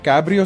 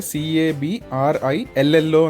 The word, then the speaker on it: Cabrillo: మీరు Cabrillo స్పెల్లింగ్‌ను గమనిస్తే, అది C-A-B-R-I-L-L-O అని ఉంటుంది. సాధారణంగా, మనం దీన్ని ఆంగ్లంలో ఉచ్చరించేటప్పుడు, " Cabrill" అని అనవచ్చు. కానీ ఇది స్పానిష్ నుండి వచ్చినందున , దీని ఉచ్చారణ "Cabrillo ", ఎందుకంటే రెండు L లు ఆ ధ్వనిని ఇస్తాయి.